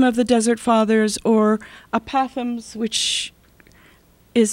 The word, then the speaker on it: apothegms: The Abba poems are, they're based on a real person, and the works that I'm imitating are the apothems of the Desert Fathers.